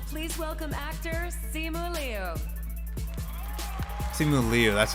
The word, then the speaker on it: Simu Liu: Simu Liu, that's how it's pronounced.